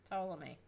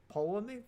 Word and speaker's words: Ptolemy: No, it's Ptolemy. Ptolemy. Ptolemy. The P is silent.